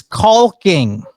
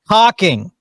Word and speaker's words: caulking: I said that's not how that's pronounced. It's pronounced caulking. Have you ever noticed how women don't like they don't pronounce the T in water, but they sure as heck pronounce the L in caulking.